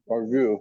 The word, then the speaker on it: burgoo: Tasting of, how do you pronounce it? Burgoo.